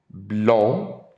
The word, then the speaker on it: blond: It's a deep nasal sound. Il est blond. There's a little lag here in my writing. I apologize for that. Il est blond, B-L-O-N-D. Il est blond, blond. And for the female, all you have to do is add an E at the end. Excusez-moi. There we go. Elle est blonde. Now you hear the D.